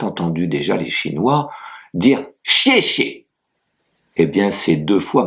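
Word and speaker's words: 谢谢: Mais vous avez peut-être entendu déjà les Chinois dire chier chier et bien c'est deux fois merci. Donc le premier chier est à ton fort et le deuxième est à ton neutre.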